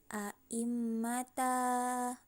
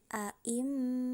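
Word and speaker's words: أئمة: nafas jadi tidak dibaca tidak dibaca Ai mata bukan seperti itu cara membacanya tapi a'im Oh begitu ya itu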